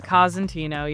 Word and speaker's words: Cosentino: I was wondering how you pronounce that. So, it's Cantino. Kazantino.